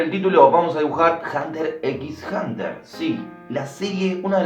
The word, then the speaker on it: Hunter x Hunter: En realidad se pronuncia Hunter x Hunter, la X no se pronuncia.